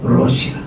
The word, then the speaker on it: 롯: 사람 있었잖아요 누구야 조카 롯이 그 이거 발음을 잘해야 돼요 루라고 해고 롯 이거는 분명 해야지 아니면 이게 헷갈리면 크일라 그 롯은 롯의 이름은 뜻은